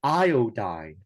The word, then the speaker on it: iodide: would be three and the other one would be iodide iodine is three syllables so it would be iodide would be three syllables as well if we had changed it to two syllables then it would be I died and that would not be